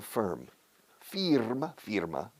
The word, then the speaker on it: firm: Fíjate cómo pronuncia firm. Firma, una empresa firma. Firm, firm. De nuevo con la IR, ER, UR suenan igual en inglés.